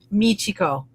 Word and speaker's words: Michiko: Would you please pronounce it for us so that we get it correct? Michico. Michico.